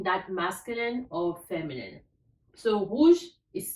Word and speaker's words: rouge: So rouge is spelled R-O-U-G-E, rouge.